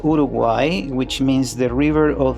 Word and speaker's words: Uruguay: was born in Uruguay in Montevideo uh it's pronounced Uruguay which means the river of the colorful birds